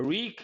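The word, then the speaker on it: wreak: makes you unhappy Scourge a reak Havoc not wreck havoc a reak havoc what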